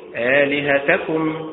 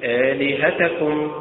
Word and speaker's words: آلهتكم: وليست لهتكم وليست لهتكم، فالأداء المستقيم آلهتكم وليست آلهتكم وليست آلهتكم، كذلك يبدلهما